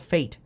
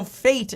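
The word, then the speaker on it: FAIT: with m1 finance no so fate is f-a-i-t and it is pronounced fate but it stands for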